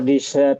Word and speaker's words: desert: Kalau desert makanan penutup sama desert gurun pasir bacanya gimana?